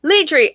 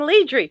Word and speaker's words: Ledri: it's so fun right oh ledri i've been saying leadry your name is zara